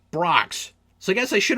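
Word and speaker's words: Brach's: try I'll try them all oh right it's pronounced Brocks so I guess I should have read it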